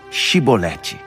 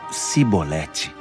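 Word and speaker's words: Chibolete: Então eles pediam: diga, Shibolete. Mas eles sempre falavam Sibolete, porque não conseguiam pronunciar corretamente.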